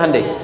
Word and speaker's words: Hyundai: Hyundai kan dibacanya Hande ya kan?